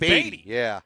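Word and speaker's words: Badie: get him to change the name back to baddy let's give an EXT not even baddy was it bad it's it wasty he was batty I was always like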